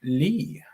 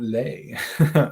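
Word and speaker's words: Leigh: got it mixed up it's pronounced mike lee not lay okay thank you mike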